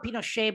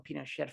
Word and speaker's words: Pinochet: I used to call him Pinochet, but then someone just recently called him Pinochet from Chile. So you can use the pronunciation you like, but he was the brutal dictator of Chile.